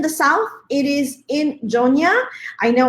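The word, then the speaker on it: Yona: it is in the south it is in Joe Nia I know it's spelled with a why but that's how we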